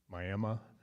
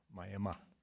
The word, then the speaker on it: Myaamia: before we break did you all hear Bob say my Emma we're actually having an influence on you aren't we that's how that's how it's pronounced in Oklahoma my Emma all right let's see